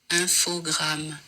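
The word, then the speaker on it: Infogrames: video on YouTube with the apparent official French pronunciation because you know they are a French company have listen infog so apparently that is how you officially say it um I know apparently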